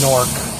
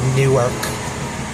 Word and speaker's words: Newark: It's pronounced Norc. Don't ever say it like Newark only because I I totally don't do that.